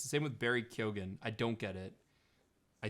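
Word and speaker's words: Keoghan: the same with barry kyogen i don't get it i don't understand i think it's pronounced keegan oh i don't understand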